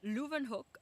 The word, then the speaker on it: Leeuwenhoek: So if it is of German origin or Russian origin, or an origin that I know that like W's mean V's, like von Leeuwenhoek, like it's a W, but you would say Vaughn.